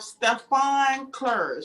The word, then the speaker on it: Stephane Clerge: this week i have stefan clerge did i say that right yes you did thank you so sophisticated